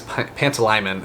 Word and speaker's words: Pantalaimon: So Lyra has her Pantalimon, I think his name is Pantalaimon is how they pronounce it in audiobook.